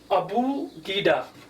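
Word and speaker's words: Abugida: Yeah, let me say India, Nepal and we say it Abu Gida. A b u g i d a. You can pronounce it as a bu g d means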